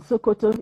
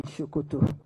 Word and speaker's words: Sokoto: In fact, there was this slang that what is there in Sokoto is there in Shokoto. Sokoto is the farthest point northwest of Nigeria. Shokoto. Written the same way, but pronounced S-O-K-O-T-O.